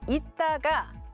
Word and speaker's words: 있다가: 먼저 이따가는 표기 그대로 이따가라고 발음을 해야 하고 이따가는 이따가 이렇게 발음해야 합니다.